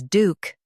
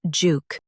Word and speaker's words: Duke: US says Duke. UK says juke, Duke.